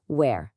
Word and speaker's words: where: É muito importante não confundir com where, que significa onde, e tem um som mais aberto, assim, where.